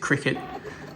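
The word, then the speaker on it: Cricut: device called a cricket i think you pronounce it cricket but it's spelt cricket uh to cut these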